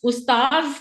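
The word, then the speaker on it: أستاذ: ये स्टार्स उस्ताज कहते हैं अरबी में उस्ताद को?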